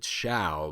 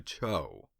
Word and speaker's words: Zhao: good intentions this state last time I pronounced it Shia but it really sounds closer to Cho the romanization spells it Zhao and I don't know why I assumed that's also the way pronounced but it's not anyway the hostage prince's